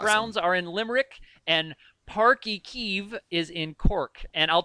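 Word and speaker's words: Páirc Uí Chaoimh: That's Park y Kiev. So pronounce it again, Park y Kiev.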